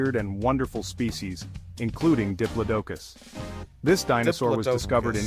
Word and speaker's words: Diplodocus: You've pronounced Diplocus and Diplodocus. Diplodocus.